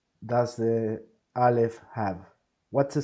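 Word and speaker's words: א: Let's begin by saying that the letter Aleph is mute. The letter Aleph doesn't have a sound in itself. But that doesn't mean that the letter Aleph won't sound, if that makes any sense.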